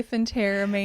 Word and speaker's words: phentermine: Is it Phentermine or Phenteramine? I've always pronounced it Phentermine. Some people say Phenteramine.